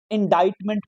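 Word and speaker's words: indictment: इंडाइटमेंट पढ़ेंगे इसको हम, इल्जाम, बहतान, एलिगेशन।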